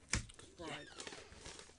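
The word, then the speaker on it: Faried: That's how you say his name. Farid.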